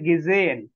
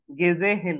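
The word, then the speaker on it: gesehen: মিস্টে জাইটু সাইটু তারপরে গেজেন গেজেহেন না হ আমি কখনোই পড়াই না এজ সাইলেন্ট গেজেন আচ্ছা আচ্ছা তাহলে হ্যাঁ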